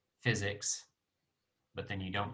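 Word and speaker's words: PyZX: all right so so some people say PI Z X button but according to us the developers it's pronounced physics which is like if you say physics but then you don't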